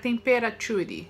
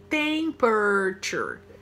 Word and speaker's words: temperature: ruim se tem curtir então tem por tornar temperatury né temperature Essa é a pronúncia e toalha fica tal A Carol tá